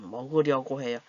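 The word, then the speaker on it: 먹으려고 해요: 어떤 사람들 은 'go' 를 정확 하게 발음 하지만 , 다른 사람들 은 'gu' 를 발음 하기 더 쉽다 고 생각 합니다 . 'u' 발음 을 할 때 는 입술 을 앞 으로 내미는 것 이 'o' 발음 을 할 때 처럼 입술 을 오므리 는 것 보다 더 편합니다 .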